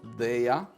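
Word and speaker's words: Daiya: I pronounce Daya.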